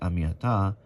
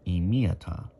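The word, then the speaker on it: עִם: Are My People am do not pronounce it am but rather IM you are with me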